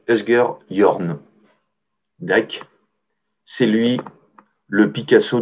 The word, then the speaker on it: Asger Jorn: Et comme il a un nom pas facile à prononcer pour un Danois, on dit Asger Jorn.